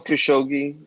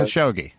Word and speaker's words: Khashoggi: you um the latest and i'll get jamal khashoggi to fight did i say that right ashok g in the documentary they pronounced it jamal khashoggi uh khashoggi right um yeah um so it's a story